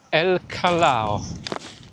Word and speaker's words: El Callao: "Đây là bãi biển El Callao (phát âm là El Kajao).